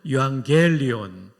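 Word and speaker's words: εὐαγγέλιον: 요한겔리온. 발음 아주 좋습니다. 엑센트도 겔리온에 있는데 잘하셨어요.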